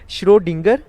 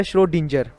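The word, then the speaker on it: Schrödinger: तो जिस साइंटिस्ट ने ये बात की थी उसे हम कहते हैं श्रोडिंगर या श्रोडिंजर। ठीक है, दोनों प्रोनाउंसिएशन के साथ इसे पढ़ते हैं।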